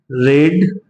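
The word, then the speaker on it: read: रीड रेड रेड, second form रेड, third form भी रेड बोला जाता है।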